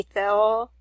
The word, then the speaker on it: Theo: It's actually Theo, which means God. That's how it's pronounced in the Greek.